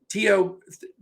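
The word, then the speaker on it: Théo: From the Oklahoma City side, if Trey Mann sits, it's probably going to be Teo is how it's pronounced.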